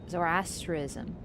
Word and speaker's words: Zoroastrianism: Well, there, where do I put the stress? You never give me the stress syllable. One syllable has to be capitalized, so you know where to put the stress. On the A.